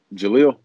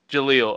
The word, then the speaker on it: Jaleel: Jill, I'm sorry if I say your name wrong. How do you say it? Yeah. Jaleel. Jaleel.